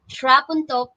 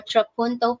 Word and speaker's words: trapunto: then finally we have trap on top painting or trapunto painting depending English or American accent no but both pronunciations are correct so what is this